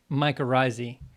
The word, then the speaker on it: mycorrhizae: never know how to say this but um makura's is that how you say it mycorrhizae mycorrhizae the fungi i'm an i'm yes i'm